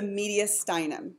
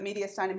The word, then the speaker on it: mediastinum: the what ya done and the accent is on the eye ok so the mediastinum has tubes and stuff